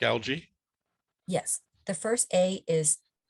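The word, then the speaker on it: ALGEE: is in distress um the acronym is spelled a l g e e like algae yes the first a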